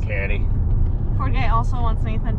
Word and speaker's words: Ducati: That's how you pronounce it. Ducati.